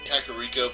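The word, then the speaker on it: Kakariko: go up to Death Mountain that's how it pronounced kakarika but I grew up almost all my life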